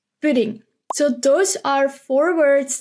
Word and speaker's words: pudding: the last word is pudding and there you have to be careful of the U pudding it's very silent buding so those are four